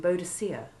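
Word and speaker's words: Boadicea: i should also mention the ancient british queen bodacia who led a revolt against the roman occupation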